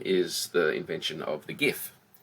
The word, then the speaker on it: GIF: the invention of the GIF. And it's pronounced GIF, it's not GIF. People pronounce it with GIF all the time.